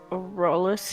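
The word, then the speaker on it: Rholdys: yes hello uh hi is there a rollis here rollis rollis do you mean fire roll this yeah that guy is it rolled this it's spelled r h o l d y s uh roll this blunt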